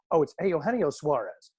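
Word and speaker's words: Eugenio Suárez: It's Eugenio Suarez.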